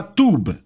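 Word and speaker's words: טוב: A palavra hebraica para bondade é a palavra tub. Falamos como se fosse T-U-B, mas se escreve T-U-W-B.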